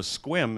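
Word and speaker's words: Sequim: And it can be gray everywhere else, and you can go to Squim and you find the blue hole. Squim is spelled S-E-Q-U-I-M.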